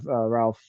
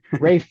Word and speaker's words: Ralph: correct so you have you have Ralph fees who I probably butchered his name it's actually sorry wraith ah yeah okay I got I got part of it Rafe findes yes uh coming in as